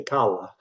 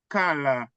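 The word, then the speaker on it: Calla: Do you pronounce it as Kara or Kala, the name of the street? C-A-L-L-A. If you're Italian, you're going to say Kala.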